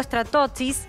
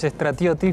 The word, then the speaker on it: Stratioti: Está con nosotros Stratotis. ¿Está bien pronunciado? Es Stratioti, pero Stratioti. Ya. A lo Tano, digamos. Con tonada. Griego, es griego, pero bueno.